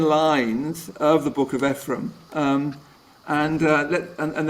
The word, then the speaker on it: Ephraim: board partner David Jackson always pronounced the the name Ephraim and so that's that's what I say you say it follows nobody else's pronunciation not the Bibles and not anybody else's but it's always Ephraim so uh when I